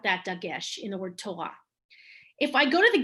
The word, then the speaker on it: Torah: you see a tough it's a t like torah the word torah has a dagesh which is why no one ever says the sora that's just not never